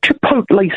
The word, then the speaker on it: chipotle: come around right here chipotle sauce what the heck is that chipotle yeah and it's pronounced Chipotle is that that's kind